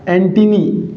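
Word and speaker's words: antennae: ये क्या हो जाएगा एंटिनी क्या हो जाएगा एंटिनी इसका उच्चारण क्या होगा इ लगने के बाद में इ का उच्चारण आएगा साथियों क्या होगा एंटिनी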